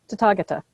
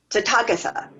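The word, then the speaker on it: Tathāgata: And the stress in Sanskrit is usually on the third to last syllable.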